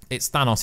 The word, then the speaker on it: Thanos: even though in my country it says it's Thanos, it's not Thanos, you know? Like, there's pronunciations different in different countries.